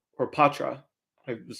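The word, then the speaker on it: Poitras: with that said John beer and uh Matthew porra or Patra I was saying his name wrong the other day Matthew Patra between Patra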